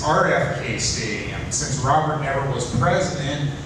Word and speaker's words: RFK Stadium: They lived there, and I couldn't believe they got the stadium name wrong. It's RFK Stadium.